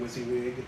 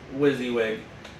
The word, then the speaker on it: WYSIWYG: Or it's, how do you say it, WYSIWYG? WYSIWYG.